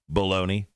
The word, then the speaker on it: Belloni: Now, according to a movie insider, his name is something Baloney, which makes me second guess this report because his last name is spelled Belloni, Baloney.